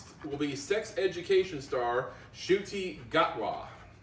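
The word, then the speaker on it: Ncuti Gatwa: doctor will be will be sex education star shooti gatwa say what shooty got law i had to look up how i pronounced the name but you know if i'm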